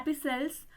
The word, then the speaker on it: epistle: introduction को तो द एपिसल यहां पे टी जो है यह साइलेंट रहेगा द एपिसल ऑफ हॉरिस